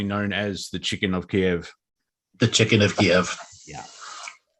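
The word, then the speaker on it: Kyiv: There is pressure that supermarkets change Chicken Kiev to Chicken Kiev, because apparently we have to say it like the local reference now.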